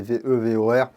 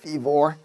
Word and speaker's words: Vevor: merci beaucoup à vivor je vais dire vivor c'est plus facile pour moi même si c'est ve vor bon c'est peut-être à prononcer à l'anglaise vivor mais c'est pas ça